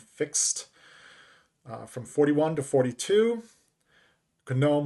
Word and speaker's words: GNOME: from 41 to 42 conome with a hard g since it's an acronym rdp is now available